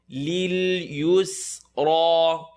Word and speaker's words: لِلْيُسْرَى: فَسَنُيَسِّرُهُ لِلْيُسْرَى. لِلْيُسْرَى. This ra is heavy, you know, because it has a line on top.